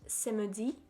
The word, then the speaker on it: samedi: Saturday is pronounced samedi.